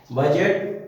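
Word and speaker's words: budget: बजट, बजट माने बजट होता है व्यय का वार्षिक अनुमान जो होता है उसको बजट बोलते हैं।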